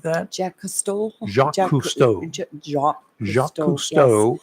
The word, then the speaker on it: Jacques Cousteau: One of them, the Monitor, and a guy named what is his name, Jackie Cousteau or something like that. Jacques Cousteau.